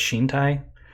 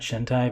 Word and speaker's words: Shintai: even pronouncing it correctly it's shintai not shintai but you know who's